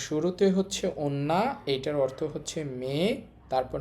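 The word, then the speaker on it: 女: এই কাঞ্জির কুনিয়মি, মানে জাপানি উচ্চারণ হবে ওন্না, আর অনিয়মি চীনা উচ্চারণ হবে জো।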